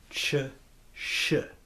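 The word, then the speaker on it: Ci Shi: We have, this one is called Chi Shi. That is spelled C-I space S-H-I.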